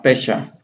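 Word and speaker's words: פשע: Y bueno, rebelión está como fecha o pesha, aquí está bafesha la pronunciación, pero solito se llama pesha.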